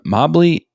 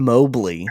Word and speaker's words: Mobley: wagner's name incorrectly and you just pronounced him mobbly and then mowbly and so i'm gonna did i say mobbly you did when you first introduced him so which is it it's evan mobley and i'm gonna be